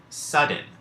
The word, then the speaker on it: sudden: generalize this is that D can be silent as it is in sudden which if you're paying attention sudden is one of those words in which to like consonants appear together and only one is sounded so that's the silent